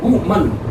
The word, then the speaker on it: women: बहुत सारे वर्ड हैं WOMAN, इसको हम बोलते हैं वुमन, वुमैन नहीं होता है वुमन, और WOMEN तो हम इसको प्रोनाउंसिएट करेंगे हम वीमन। इसको ध्यान रखना, इसको बोलेंगे वुमन और इसको बोलेंगे वीमन। तो ये बहुत सारे वर्ड्स